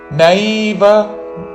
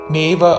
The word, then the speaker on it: నైవ: సన్యస్య సా పక్కన నాకి నావత్తు యావత్తు సన్ అని పలికి న్య నాకి యావత్తు న్యస్య సన్యస్య మత్పరాః మత్పరాః మయి సన్యస్య మత్పరాః అనన్యేనైవ అనన్యే నా మీద ఆఘాత అనన్యే నైవ నేవ అనకూడదు. నైవ అనన్యే నైవ యోగేన యోగే రెండు దీర్ఘములు చివరిలో న హ్రస్వము.